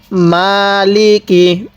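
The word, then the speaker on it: مَالِكِ: আর রহমানির রাহিম এরপরে মালিকি ইয়া মালিকি ইয়ামিদ্দিন কিভাবে পড়বো মালিকি এই মিমের মধ্যে এক আলিফ টান দিব অনেকেই মালেকি মাল লেকি পড়ি না এরকম ভাবে কখনো পড়বো না এই পড়াটা সহি হয় না আজকে আমরা সহি শুদ্ধ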